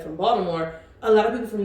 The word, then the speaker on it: Baltimore: when I moved to Baltimore see I said more the t is pronounced like a d That's Right spell this